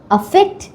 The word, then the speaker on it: affect: এদের উচ্চারণ পার্থক্য আছে। আফেক্ট ইফেক্ট। আফেক্ট। ইফেক্ট।